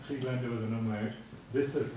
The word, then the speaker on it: Friedländer: This is her married name, Friedländer with an umlaut. This is her maiden name, Friedländer, pronounced exactly the same but with an AE ligature.